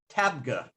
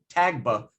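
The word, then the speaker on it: Tabgha: come here to tag tabga i always want to say tag book but it's tabga you can see it how it's spelled it's a benedictine cloister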